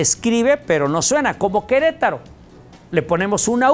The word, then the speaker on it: Querétaro: Nada más que la E no suena, se escribe pero no suena, como Querétaro. Le ponemos una U, Q-U-E, Querétaro. Pero nadie suena la U, no la pronunciamos, no decimos Querétaro.